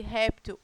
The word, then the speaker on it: réptil: caso de réptil né quem é a sílaba tônica de réptil réptil tão é também uma paroxítona porque a sílaba tônica sílaba mais forte é a penúltima sílaba da palavra e essa palavra terminada